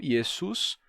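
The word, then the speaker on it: Ἰησοῦς: quando ele passa para o grego o grego não tem o som de X então yesu passa como yesu que é o mais próximo que tem e a partir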